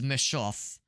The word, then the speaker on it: Messhof: And by the way, same developers as um how do you pronounce it? So the name of the developer is Meshoff.